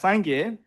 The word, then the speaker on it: Sangye: Okay, so yeah, it's Sangye, which has two syllables, Sang and Ge.